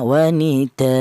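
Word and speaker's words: وَنِدَاءً: A dibaca mad iwad itu alasannya ada wakofnya tanwin fathah yang berada di akhir kalimat, namanya mad iwad. Artinya iwad tuh ganti, ya. Ganti yang bagaimana? Ganti itu ini loh, cara bacanya tanwin ini itu diganti dengan fathah biasa dan dipanjangkan 2 harokat seperti mad tabi'i, ya. Seperti itu. Jangan dibaca utuh tanwinnya seperti contoh wanidaan, jangan. Tapi yang benar wanidaa, seperti itu.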